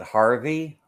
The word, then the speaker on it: Hervey: be amazing yeah her people pronounce it Harvey a lot of times but I guess yeah it's h e h e r v y That's How The Australians